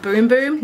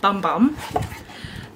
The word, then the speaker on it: Bum Bum: free and commercially compostable and yeah it is pronounced boom boom not bum bum and this is what it looks like Brazilian boom boom cream uh -huh it just comes like that